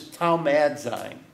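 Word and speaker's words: θαυμάζειν: The Greek word is taumazein. T-H-A-U-M-A-Z-E-I-N. Google that. And think of... Huh? T-H-A-U-M-A-Z-E-I-N. And the Z is pronounced as a D.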